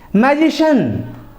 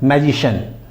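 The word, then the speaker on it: magician: जिस वर्ड के लास्ट में सी आई ए एन आता है या आएगा तो उसको भी शन पढ़ा जाएगा तो चलिए तो सी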